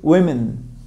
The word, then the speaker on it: women: One Woman Woman two women la diferencia está en la primera sílaba la siguiente sha Woman